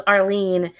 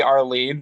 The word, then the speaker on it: Arlen: Previously, it was Arlene. Then we had Elaine. Yeah. It is supposed to be Arlene, but since she's doing a more masculine thing, she made it Arlen.